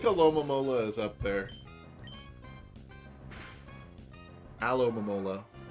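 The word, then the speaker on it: Alomomola: mola is up there alom mola so you can't emphasize both the front and the back it's just too much your dad giv a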